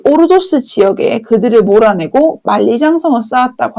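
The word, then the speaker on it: 鄂尔多斯: 그래서, 흉노의 팽창을 위협을 느꼈던 진시 황제가 이 오르도스 지역에 그들을 몰아내고 만리장성을 쌓았다고 하는데, 요 지도를 크게 한번 살펴보면요. 이 오르도스 지역, 여기입니다. 중국 발음 그대로 얘기를 하면, 얼더스라고 할 수 있겠는데, 여기에 보면 황허강 안쪽이에요.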